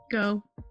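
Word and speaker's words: Geaux: what is this word g-e-a-u-x go you were the only one that they're like the only reason I know that's because I lived in Louisiana for four years there you go it's not supposed to be dough but let's go yeah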